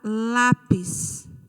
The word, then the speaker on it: lápis: Temos também a palavra lápis. Lápis. A sílaba tônica é o lá.